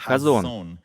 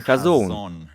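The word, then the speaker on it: חזון: хочу щоб ви знали що це слово вимовляється як газон а не хазон бачення хазон коли Бог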